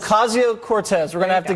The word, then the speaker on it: Ocasio-Cortez: I can't pronounce her last name. How is it? Ocasio-Cortez. Ocasio-Cortez.